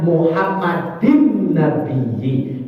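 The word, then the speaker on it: محمدٍ النبيِّ: Lafaz Muhammadin itu kan tanwin kasrah. Depannya an-nabiyyi, ada alif, ada lam, nun tasdid, dalam ilmu tajwid namanya al-syamsiyah. Betul, bacanya Muhammadin nabiyyi.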